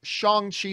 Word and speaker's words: Shang-Chi: in the trailer it's pronounced shongxi like a soft a now we know how it's said so i'm saying it hopefully correctly shang chi but anyway um we've